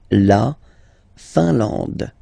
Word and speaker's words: Finlande: I-N here, nasal, un. A-N, nasal, en. And then D, final E, not pronounced. La Finlande.